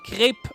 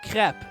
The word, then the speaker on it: crepe: Remember to say crepe, not crap.